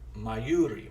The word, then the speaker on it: Mayuri: a wonderful meeting with mayuri i think i said it right she's taught me how to say her name i'm a slow learner you know what i'm saying my you my yuri my yuri my yuri's wonderful